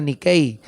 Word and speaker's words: Nike: Nike se escribe. Pero es haciendo referencia a esa diosa griega, la diosa de la victoria, Nikei.